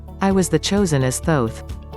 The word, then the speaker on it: Thoth: was the chosen as thoth it is pronounced as oath with a t we are those who